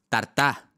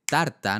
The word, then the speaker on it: tarta: Tartá. En vez de tarta, ¿no?